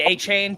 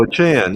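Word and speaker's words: Achane: Yeah, it's pronounced a chan. Oh, I'm sorry. I didn't realize that. No, that's okay. That's Everyone was saying achain at first and I I there was a news conference press conference where he said all y'all are mispronouncing my name. It's announced a chan.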